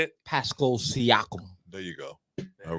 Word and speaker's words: Pascal Siakam: Pronounce it. Say it. Pascal Siakam.